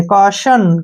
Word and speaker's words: caution: Next word है CAUTION, ठीक है ना, यहाँ पे TIO का जो है उच्चारण श के रूप में ही करना है, ध्यान रखना है। CA से हो गया हमारा का, ठीक है, और TIO का उच्चारण श के रूप में करेंगे, और N से ने। काशन, क्या पढ़ेंगे इसको? काशन।